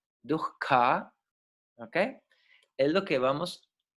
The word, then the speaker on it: dukkha: Entonces, la palabra dukkha, tiene una H ahí, se pronuncia como dukkha, dukkha, ¿ok?